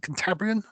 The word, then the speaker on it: Cantabrian: javelin combat shies um i could never pronounce it is it cantabrian yes yes thank you for some reason i always overthink that one sorry richard what's that from cantabria in spain yeah i didn't know